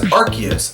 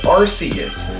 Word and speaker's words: Arceus: As you may have noticed, I pronounce it as Arceus, as that is because that is the official pronunciation according to Nintendo. However, other Nintendo media have had the name pronounced as Arceus, so the confusion is understandable.